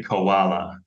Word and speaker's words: koala: So I would say koala. Koala with a co at the beginning.